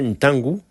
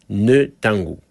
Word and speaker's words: Ntangu: Par exemple, mon frangin Ntangu se faisait appeler Netangu.